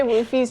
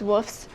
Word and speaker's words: Wuffes: I always say Woofies just because I think it's funny to say it like that, but it's Wuffes.